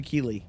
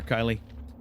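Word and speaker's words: Kylee: name his name is it's actually key uh like it's spelled uh KY l e e which is kind of hilarious and I kind of love that I kind of like that spelling of Kylie uh key or Kylie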